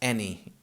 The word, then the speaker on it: any: This any is spelled the same way as any, so in English, A-N-Y, but it's pronounced any.